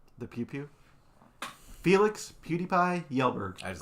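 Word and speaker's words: Kjellberg: the pew pew the pew pew Felix PewDiePie yelberg I just like to hear him say that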